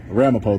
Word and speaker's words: Ramapo: How do you say it? The city's name. I'm sorry? Ramapo? Ramapo though is how you say it?